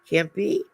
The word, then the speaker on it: Cempie: Welcome to my special guest, Reverend Rick Cempie. He's with a hard C, not a soft C to say.